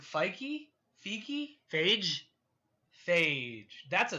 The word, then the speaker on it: Feige: You know, I don't think it's pronounced Fiji. Is it Feige?